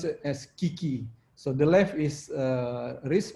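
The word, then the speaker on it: 危機: So we can pronounce it as kiki.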